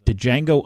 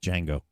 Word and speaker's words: Django: okay it was a django unchained and he played steven it's um django the d is silent no it's the django